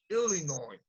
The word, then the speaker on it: Illinois: But you need to s Illinois. Illinois. Illinois. You can say Illinois. No, it's Illinois.